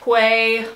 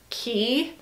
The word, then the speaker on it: Quay: I have a quay, well, I think you pronounce it key, but it's for sunglasses, just like a little sunglass holder.